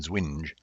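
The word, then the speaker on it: ZWNJ: Zero-width joiner and zero-width non-joiner, pronounced by some people as zwidge and zwinge, have been included in Unicode since version 1.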